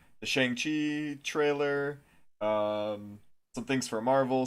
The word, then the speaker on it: Shang-Chi: It's Shang like long and then Chi. You got it half right already. Shang-Chi.